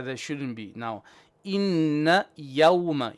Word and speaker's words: يوم: Now, inna yawma. Ya is flat. Yawma. Yawmal fa. Fa is flat. Only the sword will be heavy. Don't say fos. No. Fa, so. Fa, so. Inna yawmal fasli.